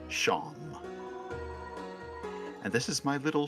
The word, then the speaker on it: Seam: The name's Seam, pronounced Sham.